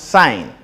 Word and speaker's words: sine: So fundamental trig ratios are sine, which is abbreviated as SIN, pronounced sine, SIGN.